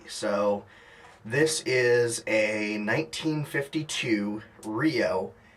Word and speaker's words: REO: by a company called rio that's spelled r-e-o um but it's pronounced rio some confusion as to